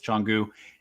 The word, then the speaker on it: Canggu: I finally got the pronunciation on this. It is Canggu.